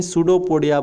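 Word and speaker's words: pseudopodia: इसे ही सूडोपोडिया बोलेंगे, P silent रहता है।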